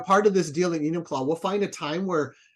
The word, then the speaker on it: Enumclaw: It's an Enum Claw.